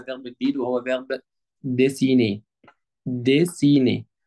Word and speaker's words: dessiner: ديسيني، هنلاحظ ان حرف الاو هنا بيتنطق ايه، ليه بقى؟ علشان جاي بعديه اتنين كونسون اللي هم حرف الدبل اس. طالما الاو جاي بعديها اتنين كونسون يعني اتنين ساكنين، لازم يتنطق ايه، ديسيني، ودي معناها يرسم.